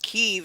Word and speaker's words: Kyiv: So it's, Kiev is the Russian pronunciation. Kiev is the Ukrainian pronunciation.